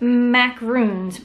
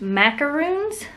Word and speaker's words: macarons: Not macaroons, macaroons, the fluffy ones, for dogs.